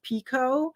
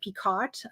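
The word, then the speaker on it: picot: what it's called or until recently I did not know how to say the Stitch Pico I always said peot you know and I'm like oh it's Pico read it you never say it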